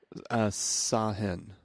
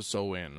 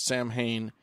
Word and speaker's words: Samhain: Yeah, the incorrect pronunciation is Samhain, which is how I'm going to pronounce it. Okay. You go for it. Because that's how it's spelled.